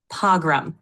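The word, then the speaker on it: pogrom: in 1938 after the p o g r o m I have said it pgam is how you pronounce it you're doing great keep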